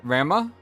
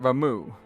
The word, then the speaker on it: Ramuh: Um I always pronounce it Rama. Rama. But they pronounce it Ramuh.